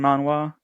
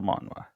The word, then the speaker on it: manhwa: It's pronounced just the same as Korean manhwa, but Hmm. I guess it's just they're using different characters, and in English version it's spelled a little different, but its pronunciation is the same.